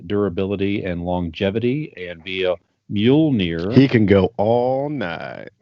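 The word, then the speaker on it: Mjölnir: help me what is the hammer's name you pronounced it correctly uh it is mule near mjolnir thank you so obviously he wields the enchanted hammer mule near uh thor first appeared in journey into mystery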